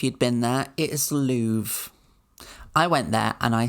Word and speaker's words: Louvre: So you do say it Louvre. You don't pronounce the R. You don't say Louvre. You were going to pronounce the R, weren't you? Maybe you'd know if you'd been there. It is Louvre.